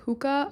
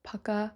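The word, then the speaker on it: Pukka: personally love the brand pukah okay I thought it was called puka but I think it's pronounced Paka it's p kka a i love that brand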